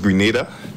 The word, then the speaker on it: Grenada: Well, it's actually pronounced Grenada.